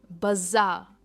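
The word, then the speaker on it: bizarre: बाजार, इसमें जो ये आर है ना, हम प्रोनाउंस नहीं करते, यह है बाजार।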